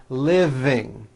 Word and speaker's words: living: V living I am living in a house is that correct yes the V is voiced living that's correct okay now repeat these